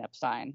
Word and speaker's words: Epstein: The White Album sessions in 1968 all Brian Epstein and we'll play a clip of that maybe